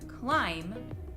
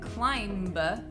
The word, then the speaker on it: climb: like in the word climb we only pronounce it with the second-to-last sound so V hmm we leave out the B we don't pronounce it climb ba we pronounce it climb so why is it